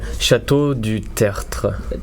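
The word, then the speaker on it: Château du Tertre: Yeah, Chateau du Tertre. Chateau du Tertre. It's complicated, really. RTR. It's hard to pronounce.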